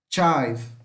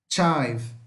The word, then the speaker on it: chive: A cebolinha também é bem simples a pronúncia, vamos colocar o som de T com X aqui na frente também. Tá? Para pronunciar. E o final sempre fica mais fraco, imperceptível, tá? Então aqui neste caso não vai ser som de i, mas de ai.